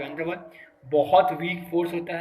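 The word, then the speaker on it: van der Waals: और ये बहुत स्ट्रॉन्ग इलेक्ट्रोस्टैटिक फोर्स होता है इसमें, week week वैंडर वाल्स force, VANDER, WAALS, double A याद रखना, मैं स्पेलिंग गलत नहीं बोल रहा हूँ, WAALS, वैंडर वाल, बंदर वाल भी बोल सकते हो, अपने घर में लगता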